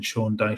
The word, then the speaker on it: Sean Dyche: Sean Dyche.